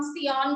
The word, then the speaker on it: scion: तो जिसमें से हमने स्टेम वाला पार्ट लिया है प्लांट का उसको हम सियॉन कहते हैं। ठीक है बेटे, सियॉन के स्पेलिंग है SCION, सियॉन।